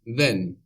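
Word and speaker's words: δεν: not in Greek is then then this is spelled with Dela the Greek letter looks like a d or in capitals it looks like a triangle then then so this is like the th sound in the English word then like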